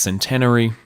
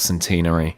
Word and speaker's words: Centenary: And I think if there's one thing we can take away from today is that it is pronounced Centenary and not Centenary.